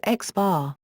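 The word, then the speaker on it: x̄: The arithmetic mean of a set of numbers x1, x2, xn is typically denoted by, pronounced x bar.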